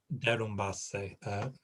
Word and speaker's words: derrumbarse: Derrumbarse. Don't forget right at the end. You threw an English vowel in.